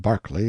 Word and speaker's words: Berkeley: Pronounced Cubri Flanover Marshbanks sellers Viccount Barkley of Chumley Castle, Warkshire.